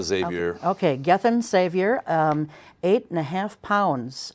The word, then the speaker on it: Xavier: Let's see, Gethin, do you pronounce the X? Or No, Xavier.